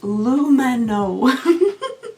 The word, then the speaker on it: Lumino: It's pronounced Lumino.